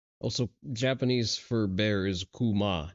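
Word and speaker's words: 熊: Experts Also, Japanese for bear is kuma, not kumo.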